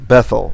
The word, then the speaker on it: Bethel: probably hear this because the reason we say bethel is because in tamakhit in ancient hebrew pronunciation a tav which did not have a dagesh was pronounced like th so that's why it was bethel the yemenites still pronounce